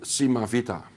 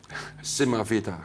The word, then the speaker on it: Simavita: It's the company's called Simavita. Simavita. Simavita. How are you going? Can you spell it for us?